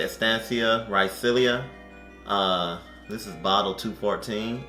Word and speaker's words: Raicilla: but um on the back it says that ryzea is pronounced it's pronounced ricia meaning small root is a 400 year old